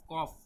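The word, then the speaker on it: ق: এটা হচ্ছে কফ কফ কফ, গলার ভিতর থেকে, অনেকে বলে কফ কফ, বাংলায় ক এর মতো বলে, ক বললে হবে না, বলতে হবে কফ কফ কফ কফ, ঠিক আছে, গলার ভিতর থেকে কফ কফ।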